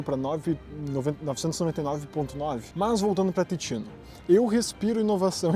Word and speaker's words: Ticino: Porque titino, se tu não sabe, se escreve T i c i n o. Só que não se lê ticino, se fala titino, porque em italiano aquele c tem som de ti. Então é titino.